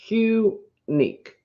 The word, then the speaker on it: Hunique: and it's ella ray hunique spelled with an h hu nik and it's not i